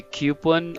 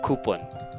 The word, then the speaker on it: coupon: It's okay because this can be pronounced in two ways. It could be coupon or coupon.